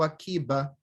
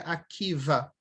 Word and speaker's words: Akiva: Akiva ou Akiba, geralmente se pronuncia Akiva.